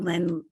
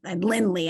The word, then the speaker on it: Lindley: on a farm in Rockingham County thank you Lynn I'm Lindley I'm saying it right okay so I'm Jackie